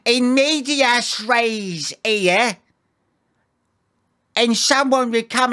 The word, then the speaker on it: in medias res: Here we can see, it says, in medias res here.